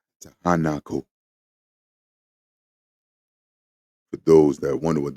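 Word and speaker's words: Tiahuanaco: You've danced in the highlands of Takanaku. Tahanaku. For those that wonder what that word is, it's spelled C I A H U A N A C O.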